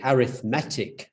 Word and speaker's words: arithmetic: arithmetic mean or arithmetic i mispronounced that arithmetic is the noun this is the adjective the arithmetic mean so when you have the adjective you put the emphasis on the e in arithmetic so the arithmetic mean